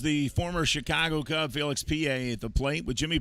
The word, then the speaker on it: Pie: ball one to felix pa pierre was on the inactive list for a while good to see him back in uniform and swinging the bat out there name spelled p-i-e pronounced p-a and there's a strike